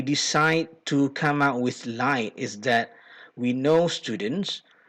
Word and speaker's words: LITE: The abbreviation that we have created for this intervention is LITE, L-I-T-E, and pronounced as light to show that this intervention will make essay writing a lighter task for students.